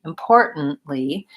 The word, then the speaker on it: importantly: Li syllable so importantly importantly really sounds mostly like this impor and then I'm gonna put that in parenthesis because you don't want to leave the T out but you do want to make it a stop T import N and then another stop T importantly with the stress falling here so these syllables are fast and this syllable is stretched importantly importantly good question